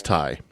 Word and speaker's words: Ti: themselves as do do i had to look up the pronunciation okay d-o and t-i that's how they refer to each other and then so who's do and who's t he's do she's thai okay and sometimes they refer